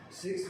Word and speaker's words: Sikh: The word Sikh, pronounced as Sikh, it means discipline or a learner.